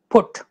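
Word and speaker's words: put: अभी तो मैं आपको बोलना नहीं कह पाऊंगा, लेकिन मैं ही बोल लेता हूं आपके बदले, पी यू टी is spoken as पुट, बी यू टी is spoken as बट।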